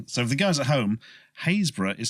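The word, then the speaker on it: Happisburgh: way they're pronounced so the girls at home haze bruh is spelt Hattiesburg H appi SB eurgh correct mentioning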